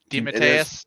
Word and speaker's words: DeMatteis: DeMatteis, is that the correct pronunciation? DeMatteis, yeah, it is tonight.